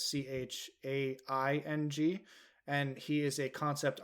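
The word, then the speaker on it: Chiang: And one of those people, funny enough, is they spell it, so it's Doug Chang, who they spell Chang, but his actual name is Chaing.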